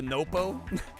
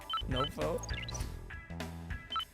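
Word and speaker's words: のっぽ: All right, Nopo or Napo. I don't know how you say it. Oh shit! This is the Japanese version. It's the long O, it's the Nopo. Nopo.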